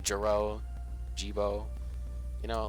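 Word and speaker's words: Gebo: I mean, it makes sense, you know, like Jiro, Jibo, you know, like it's spelled G-E-B-O. So you could say Jibo, I guess. Maybe it's Jabo.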